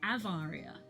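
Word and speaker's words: Awaria: It's pronounced Avaria.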